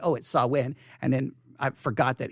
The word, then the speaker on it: Samhain: this up and then i said oh it saw win and then i forgot that he added the pronunciation or who whomever they may be added